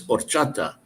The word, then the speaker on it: horchata: but it's not the the H is silent so it's horchata um so there's a